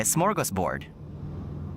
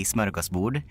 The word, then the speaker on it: smörgåsbord: It's a smorgasbord. That's originally a Swedish word. Yeah, it's originally from Swedish. It's pronounced in Swedish we say smörgåsbord.